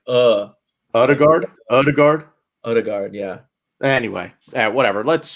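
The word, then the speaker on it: Ødegaard: imminently is uh martin odegaard or erdegaard i think is how you pronounce that oh it's oh it's a oh like oh odigard oh it is odegaard i heard it was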